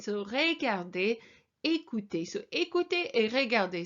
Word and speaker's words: regarder: And both these words have got this EZ ending, so that's an A sound. So regarder, écouter.